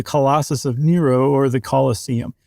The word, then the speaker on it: Colosseum: So that was the the amphitheater that had the Colossus of Nero or the Colosseum. It's like museum but with coloss, right? But they didn't pronounce it colossium.